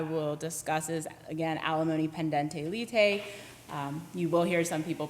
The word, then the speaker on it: pendente lite: The second type of support that I will discuss is, again, alimony pendente lite. You will hear some people pronounce that differently, but that's how I learned to say it in law school.